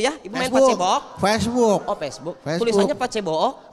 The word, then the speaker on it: Facebook: Kalau konten di media sosial, Bu di Pace Book gitu ya, Ibu main Pace Bookok. Facebook.